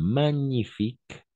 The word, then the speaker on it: magnifique: combinaison de j'ai avec le N on va prononcer comme un d'accord par exemple comme magnifique par exemple magnifique magnifique magnifique magnifique on passe